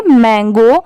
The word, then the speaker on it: mango: MAN, यहाँ पर मैन हो गया और यहाँ पर मंकी में MON था तो मॉन हो गया। ठीक है, दोनों में बस ऐसा ही डिफरेंस होता है। ऐसे MO की साउंड मो की आई और यहाँ पर MA